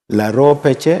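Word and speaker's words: Laropi: member of parliament who represents uh Laro P. I hope by the end of this show you can pronounce it properly. Lo P. Okay. The other part is called Laro. This other part is called P.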